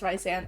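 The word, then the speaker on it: Rhysand: about it don't comment anything about how we pronounce ryzan that's how we pronounce it but I said rice and dot dot little did I know I'd be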